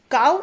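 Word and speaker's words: cow: ठीक है, तो आगे, काउ इज काउ बट लो इज लो।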